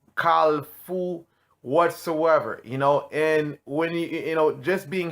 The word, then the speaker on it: kafou: So just give me a little correct pronunciation of how you would basically say it. KAFOU. So KAFOU. So that's the correct way of pronouncing it in Haitian Creole.